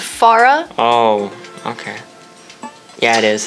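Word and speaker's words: Pharah: your mind he's a really good pharaoh anyways I'm not watch actually it's pronounced Farah oh okay yeah it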